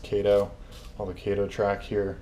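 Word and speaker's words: Kato: cut down all of the kado track that I have here I think it's actually pronounced Cato while the Cato track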